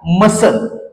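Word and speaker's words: muscle: पुढच जे एक्झाम्पल आहे मसल ओके आणि मसल हा शब्द वाचन करत असताना सी जो लेटर आहे हा सायलेंट होताना आपलला दिसत आहे पुढच जे एक्झाम्पल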